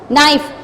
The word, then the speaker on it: knife: No, there is also no start from the K, but we won't pronounce K. We just say no. Knife.